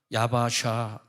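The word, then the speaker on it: יַבָּשָׁה: 얍바사. 근데 육지로 걸어갔다는 얍바사, 그러니까 이제 히브리어 발음으로 하면 하얌, 바, 야바샤, 베하마임, 라햄, 호마, 미미남, 우미, 세모람 이렇게 적혀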